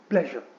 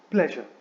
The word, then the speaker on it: pleasure: The right way to pronounce this word is actually pleasure. So it is pleasure.